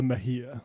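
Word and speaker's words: Mejia: That's Analia Mahia. Mahia is the one person who can pronounce it in this office.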